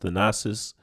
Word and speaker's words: Thanasis: I believe is a brother's name is pronounced the nasis an Tumo so with